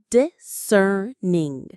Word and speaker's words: discerning: Discerning. Discerning. The stress is on that second syllable.